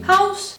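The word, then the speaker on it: Haus: English and guess what it's pronounced exactly the same way house and house next up we have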